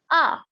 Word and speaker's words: 아: And whenever we use it in the very beginning, it has no sound. So it is an empty consonant right now. It's an empty consonant, okay? So on its own, this is a consonant and it doesn't have any sound. And this particular vowel is called ah. So together, this becomes ah.